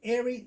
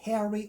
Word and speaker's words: Eri: Now was a creation because my real name is Eri, Heri. So the stage name in Chicago was Eri, which means of the valley. But when I went to Pinocchio's, the MCs couldn't pronounce Eri. They would say Harry or Eric.